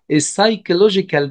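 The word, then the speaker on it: psychological: على صحتنا كمان هناخد السيجال دانجرز او المخاطر النفسيه وهنا البي مش بتتنطق وكمان هناخد السكيورتي دانجرز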